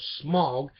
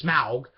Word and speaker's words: Smaug: voice for voice and motion capture performance for smog and sorry for programs mispronounced that wrong Smaug in The Hobbit movies uh cover batch is